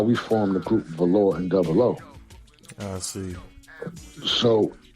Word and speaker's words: Velore: Because if you notice, Velore rhymes with Cat Claw.